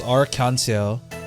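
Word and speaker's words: Arc en Ciel: I find that really interesting that the way they pronounce arc ncl is arcans. Like it's it like leads into each other.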